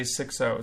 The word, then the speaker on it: Xixo: I was just informed right now that it is one word, like you would say Xixo.